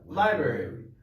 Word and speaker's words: library: i b r y are too lazy to pronounce it yeah library so like this library right not saying a